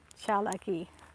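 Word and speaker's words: Tsalagi: to go cheer lucky that's how you say it ciao lucky but spelled t-s-a-l-a-g-i i think um the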